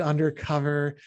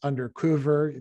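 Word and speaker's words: Under Cöver: of them ozzy did undercover motorhead did under if we pronounced it with the umlaut that it has under cover but it's actually undercover saxon recently brought out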